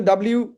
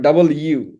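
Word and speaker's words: W: কিন্তু ডাব্লু বলে ইংরেজিতে কিছু নাই। ডাব্লু অনেক লোকের নাম আর কি। ডাব্লু নামের লোকজনও আছে। এটা উচ্চারণ হচ্ছে ডাব্লিউ বা ডাবল ইউ।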